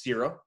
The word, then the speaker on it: Seura: reinforce the fact that wanted to pronounce zero and the name came from georges seurat so if you've seen